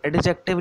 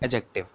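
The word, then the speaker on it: adjective: अच्छा, इसको एडजेक्टिव नहीं बोलते हैं, इसको क्या बोलते हैं, एडजेक्टिव, ठीक है। यहाँ पर आपका डी थोड़ा सा साइलेंट हो जाता है, एडजेक्टिव बोलते हैं इसको, एडजेक्टिव।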